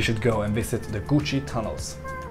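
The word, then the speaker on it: Củ Chi: day two you should go and visit the Gucci tunnels it's spelled chuchi and it took me some time before I realized that it's actually pronounced Gucci but you should go and visit them when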